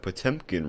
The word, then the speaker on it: Potemkin: quite the coincidence that potemkin rhymes with 10 pin because potemkin's game plan